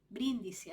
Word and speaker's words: Brindisi: a la ciudad portuaria de Brindisi, así se pronuncia porque aquí está en español, en el Mediterráneo oriental.